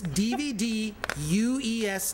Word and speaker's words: DVDuesday: Everyone mispronounced. It's DVDuesday.